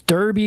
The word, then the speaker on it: Derby: It's Derby because there's an E. Put an A in it, and we'll start pronouncing it Darby.